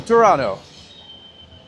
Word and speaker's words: Toronto: It's true that most people in Toronto don't actually pronounce the second T. That is 1,000,000% correct. That is where my entire name comes from. So I'm TOURonno.